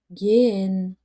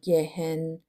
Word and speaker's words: gehen: هلو یعنی سلام اما اگر بعد از یه حرف صدادار بیاد معمولاً تلفظ نمیشه و فقط باعث کشیدگی حرف صدادارمون میشه مثل گن نمیگیم گهن این ه شدید تلفظ نمیشه و فقط صدای ا رو کشیده تر می‌کنه دوباره تکرار می‌کنم گن